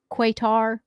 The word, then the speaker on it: Qatar: Qatar. Okay. Qatar Airlines. Qatar Airlines. Heavy on the R.